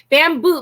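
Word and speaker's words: Babanu: please all right guys here it is bamboo but it's spelled b-a-b-a-n-u yeah and actually like it's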